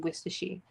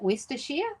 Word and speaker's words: Worcestershire: You said you come from a small town in Worcestershire. Oh, did I say that right? Is it Worcestershire?